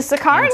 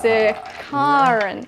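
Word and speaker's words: Sicarian: the um into the sicarious successes into the intercessors your pronunciation seems to be a little bit off there it's pronounced sir caron not really i'm also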